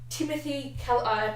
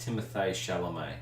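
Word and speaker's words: Timothée Chalamet: actor at the moment Timothy Cal apologizing for miss pants I think it's pronounced Timothy's chelomei you got this girlfriend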